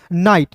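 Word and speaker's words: knight: फिर देखिए यहां पे के बाद एन है तो के को साइलेंट। एन का दोस्तों न होता है और याद रखिएगा आई जी एस टी जब भी अंतिम में दिखेगा तो इसका उच्चारण आई के रूप में करेंगे तो हो जाएगा दोस्तों नाइट नाइट मींस होता है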